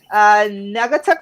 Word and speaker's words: Naugatuck: She's from, I'm going to say this wrong, Naugatuck Valley Community College in Connecticut? Correct. Oh, I said it right.